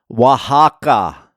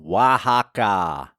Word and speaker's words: Oaxaca: long day of travel but I'm here in Waka that's how you pronounce the name Waka Waka Mexico and this is a cool town